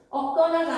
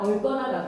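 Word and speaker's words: 얽거나: 얻거나가 아니라 얼거나가 돼야 됩니다.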